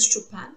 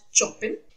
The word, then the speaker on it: Chopin: Pronunciation is शोपेन नॉट चोपिन।